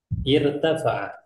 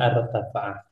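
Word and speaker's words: ارتفع: Irtafa'a. Nah, dia irtafa'a cara membacanya, bukan artafa'a.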